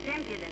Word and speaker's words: impudent: That's impudent. With the emphasis on the second syllable.